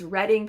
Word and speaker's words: Reading: of Reading, Pennsylvania, which thank you to everyone who corrected my pronunciation when I said it wrong in the uh in the July TV. It's Reading, Pennsylvania. We hear about how this